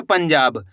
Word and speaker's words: पंजाब: पंजाब। आया समझ में? आपको करना क्या है? तेजी के साथ इसका उच्चारण निकालना है पंजाब।